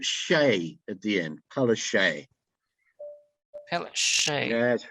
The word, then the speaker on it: Palaszczuk: It's pronounced. Don't worry, Palaszczuk.